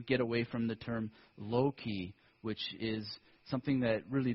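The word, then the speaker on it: loci: uninterested in memory palaces, because low-key is a non-English word, and it doesn't really mean that much. It's spelled L-O-C-I, and I like stations,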